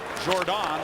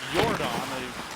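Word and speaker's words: Jordán: Back to play it goes Jordan, Mikhail Jordan, defenseman from the Czech Republic. Actually, it's Jordan. The J is pronounced like a Y.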